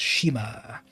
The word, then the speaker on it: Shima: But you will have the knowledge of knowing, you will have the honor of knowing that you know that it's pronounced Shima. So Shima is Japanese for island.